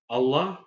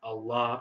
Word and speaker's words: Allah: Islam and Muslim now there are english-speaking Westerners such as Americans who pronounced the AL in Allah as the AL in alexander whereas when if you want to say the AL in allah the way is actually supposed to be you know sade or